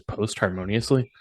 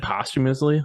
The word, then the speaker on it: posthumously: Did you also describe that as post harmoniously? Postpartum. No, that's the correct I think he received it posthumously. Posthumously. posthumously. Yeah. Yes, post harmoniously. I've heard it pronounced that way. What? No, that's not the same.